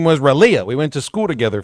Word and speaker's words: Raleigh: You mean Raleigh? Raleigh. Oh, okay. Close enough. That's how you say it? How you say it again? Raleigh. You for real? Yeah. But it's spelled R-A-L-E-I-G-H. Raleigh. That's Raleigh.